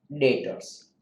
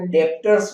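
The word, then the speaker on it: debtors: सबको हम कहते हैं डेटर्स। उन सबको हम क्या कहते हैं, डेटर्स। फ्रेंड्स इसको लोग डेप्टर्स बोलते हैं, गुजराती मीडियम वाले खास, लेकिन ये डेटर्स है, बी साइलेंट है, तो पहले दिन से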